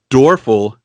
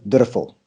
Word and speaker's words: Dörfel: now door 'fl is how I would say it as an American but your last name is not at you're actually pronounce it how do you preside you pronounce your name please it's actually a German surname says did a